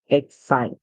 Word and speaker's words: excite: That's because when C comes before E, I, or Y, it makes a sound like S. So we hear excite. Remember the E's at the end, so the E is silent and it gives power to the vowel a lot of times to call its name. So hence the vowel here says I.